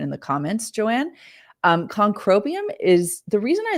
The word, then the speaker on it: Concrobium: Um the best one that I have found is Concrobium. And I always say conroium is a mouthful, but uh it's spelled C O N C R O B IU M.